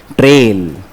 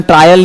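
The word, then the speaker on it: trail: इसे बोलते हैं ऑडिट ट्रेल ऑडिट ट्रेल इसका प्रोनंसिएशन ट्रायल नहीं होता ट्रायल नहीं बोलना ट्रायल की स्पेलिंग होती है टी आर आई ए एल ये ट्रेल ट्रेल का मतलब है पूछ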